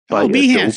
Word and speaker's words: Behance: There is a website called, I don't even know whether I pronounced this correctly, Behance. Behance, yes.